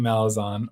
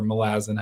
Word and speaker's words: Malazan: on AP canan's Channel talking malison or Malazan however you want to pronounce it and Stephen Erikson was